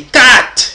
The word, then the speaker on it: Kat: juré en Yamba et Kat qui veut dire le livre en Bassa mais vous savez qu'on ne prononce pas le T donc c'est k livre donc c'est le même